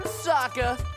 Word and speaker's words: Sokka: right, I'm Sokka. It's pronounced with an Akka.